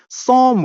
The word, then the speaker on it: Psalm: एस ए एल एम पी is silent यहां पे पी जो है वह साइलेंट है साइलेंट होता है कि उसकी ध्वनि नहीं आएगी उसकी आवाज नहीं सुनाई देगी सोम प्रोनंसिएशन है उच्चारण इसका सोम है अ सोम ऑफ